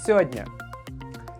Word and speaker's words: сегодня: in Russian is "журнал" The word "сегодня" often is pronounced like "сёдня" "Well, I can't meet with you today.